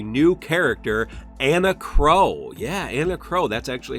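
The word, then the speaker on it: Enna Kros: Yeah, Anna Crow. That's actually how you pronounce that.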